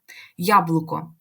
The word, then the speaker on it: яблуко: в квадратних дужках дивимося яблуко Слово починається з Лі я вимовляємо яблуко ми чітко відчуваємо що літера поділяється на два звуки й та а ми їх чітко чуємо Тому так і записуємо